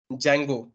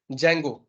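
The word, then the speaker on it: Django: अगर आप पाइथन का बात करो तो ये है जैंगो, ठीक है, इसमें डी साइलेंट होता है, जैंगो।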